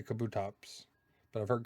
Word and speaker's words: Kabutops: I say Kabutops. But I've heard Kabutops.